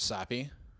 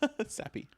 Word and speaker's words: SAPI: enjoy the word sappy because whenever I use it, my boss looks